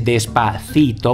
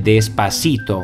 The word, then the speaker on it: Despacito: Sicuramente avete notato che il cantante Fonsi non dice Despacito ma dice Despacito. Infatti Fonsi, che è del Porto Rico, non pronuncia la th ma sostituisce questo suono tipico della penisola iberica con la s, e questo è il fenomeno che si chiama seseo.